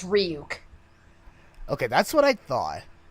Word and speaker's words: Ryuk: Also, he said Ryak. Ryuk, oh. Yeah, even but worse. yeah, in Japanese it's Ryuk.